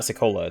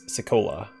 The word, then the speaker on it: Sekolah: So I'm definitely mispronouncing it, because it's not Sekolah, it's Sekolah. And then Ixothotokul, not Ixothotokul. Like, there's emphasis on like the middle vowel, so I'll try to incorporate that into their names if I can.